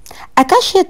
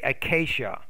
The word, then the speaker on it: acacia: five stressed syllables not one or two stressed syllables or stress the second example is about acacia and and akashia trees akashia trees has a huge trunk however i think you want to say acacia where the ants can live on the other